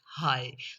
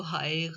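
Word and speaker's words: high: के दरमियान जैसे कि एच आई जी एच हाय तो इसके हम इसको हाग नहीं पढ़ेंगे हाग नहीं पढ़ेंगे इसमें जी साइलेंट हो गया यानी कि कंसोनेंट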